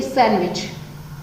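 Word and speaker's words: sandwich: तो आप खुद से इसको प्रोनाउंसिएशन इसका करके देखिए, सैंडविच, ठीक है। तो आपने क्या देखा यहाँ पर, आपने ये देखा कि यहाँ पर दोस्तों जो डी वर्ड है इसका तो हमने यूज नहीं किया, हमने सैंडविच थोड़े ना कहा, सैंडविच बोला, सैंडविच, ओके।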